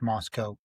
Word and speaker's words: Moscow: Doug Wilson is the pastor of a church in Moscow, Idaho, spelled Moscow, but pronounced Moscow, who has formed a denomination, Reformed Calvinist denomination, called the Communion of Reformed Evangelical Churches, or CREC.